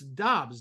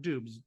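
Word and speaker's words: Doubs: last moment uh it's Dobbs not dubes uh it's like I said spelled d-o-u-b-s but it's pronounced Dobbs so Romeo Dobbs big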